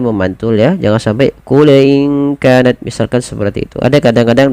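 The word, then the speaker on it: إن كانت: Samarkan kepada makhraj daripada huruf kaf langsung. qul inka in kanat ya.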